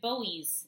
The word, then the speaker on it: Boies: a second attorney prosecuting our cheesecake is David Boies it's it's spelled Bo IES soap and Clemente bullies this